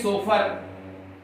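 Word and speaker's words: chauffeur: लिखते हैं देखिए SOFFEUR, पढ़ते हैं सोफर, जिसका होता है कार चालक, कार चालक।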